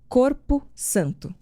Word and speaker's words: Qorpo Santo: Ele é conhecido como Corpo Santo. É desse jeito mesmo que se escreve, mas daqui a pouco eu explico o nome dele.